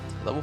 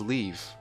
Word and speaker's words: leve: See, the nature of this pun makes me believe that leave is actually the proper pronunciation of it. Because some people like to argue, oh, it's pronounced leve. No, I'm pretty sure it's leave.